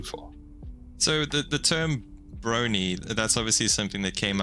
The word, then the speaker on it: Brony: fans and I mean it rhymes with Pony and bro as in you know we're all bros who enjoy this show